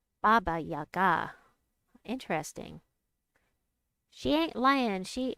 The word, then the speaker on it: Baba Yaga: Baba has stress on the first syllable. Yaga has an accent. Baba Yaga has an accent on the last syllable. Baba Yaga.